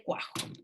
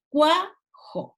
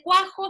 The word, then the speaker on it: cuajo: dice 4 ahí dice cuajo y fíjense que al lado de cuajo está la separación silábica y está subrayada la sílaba tónica no se dice guau job fíjense ustedes que ahí hay un diptongo porque la es la